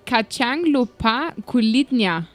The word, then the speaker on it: kacang lupa kulitnya: The next one is kacang lupa kulitnya. Do I pronounce that correctly? Correct. Kulitnya.